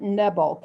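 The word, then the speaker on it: Knebel: camp david by fletcher i think you pronounce it neville k-n-e-b-e-l it was a best-seller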